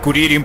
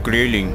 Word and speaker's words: Krillin: Eso le pasa a Kuririn por descuidado. Pronuncia bien analfabeto, se dice Krillin.